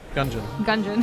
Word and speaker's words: Gungeon: enter the gon gungeon gungeon like dungeon oh went out of